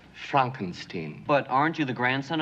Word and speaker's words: Frankenstein: Pronounced Frankenstein.